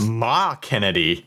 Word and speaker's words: McKennedigh: And apparently, it's pronounced according to the way she wrote it, Ma Kennedy. McKennedy.